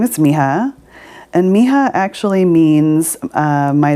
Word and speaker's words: Mija: about mr skye's belly so my name is miha and miha actually means my daughter in spanish